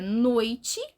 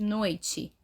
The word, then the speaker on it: noite: O I, ele tá junto com a vogal O e a pronúncia dele é muito fraco, né? Menos forte. O som do O prevalece, né? Bem mais forte, noite, né?